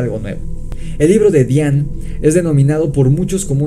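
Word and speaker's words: Dzyan: libro de depp xian que yo pronunciaba decian que investigando para esto descubrí que su pronunciación correcta es bien es decir la zeta no suena en esta palabra así que vean todos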